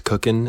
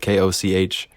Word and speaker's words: Koch: It's spelled Koch. It's pronounced Cook. Yeah, it's really strange way of spelling Cook, but I was not the one that decided it. I simply was born into it, and I have no choice, really. So I've heard every mispronunciation you could ever dream of. I've heard coach, koch, coke, cock, kuch, you name it.